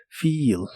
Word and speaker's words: feel: que significa stir irse la doble e de esta palabra se pronuncia como una I larga o doble feel feel Y estos son